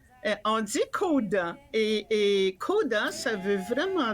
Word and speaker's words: CODA: Comment on prononce? Coda. On dit Coda.